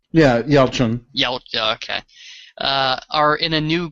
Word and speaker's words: Yelchin: Yeah, Yelchin.